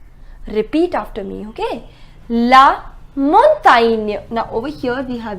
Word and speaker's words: montagne: La montagne. Now over here we have GN. Montagne.